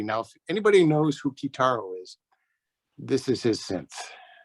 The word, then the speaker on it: Kitaro: down the road from kataro in colorado yeah we met him remember vic we at the one big party some stone hippie party up here in northern california it's actually pronounced kitaro yeah and then we've